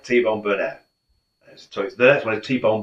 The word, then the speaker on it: Burnett: So the reason I like T-Bone Burnett, the next one is T-Bone Burnett, and It's Not Too Late.